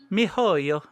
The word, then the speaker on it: miHoYo: Also, I found out how to pronounce the company that made it. Mihoyo.